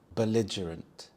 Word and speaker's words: belligerent: nearly everyone owning one belligerent belligerent the stress is on the second syllable Li belligerent we also have the schah sound the uh sound belligerant this means to be